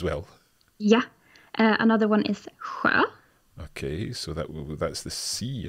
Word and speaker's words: sjö: Another one is sjö.